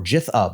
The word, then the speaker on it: GitHub: There's Xbox, there's Azure, there's LinkedIn, there's GitHub or Jithub as I insist on pronouncing it.